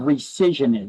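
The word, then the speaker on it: rescission: You need to understand what a right of recision is. That's how that word is pronounced.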